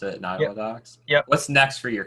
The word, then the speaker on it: Nottawa Docks: So what's next it's Nottawa Docks, right? That's how you pronounce it, Nottawa Docks?